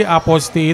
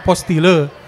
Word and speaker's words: Apostille: Jadi asal usulnya itu bahasa Perancis, artinya sendiri Aposti itu anotasi. Jadi tulisannya APOSTILLE. Walaupun kalau kita bahasa Indonesia tulisannya begitu kan dibacanya apostile.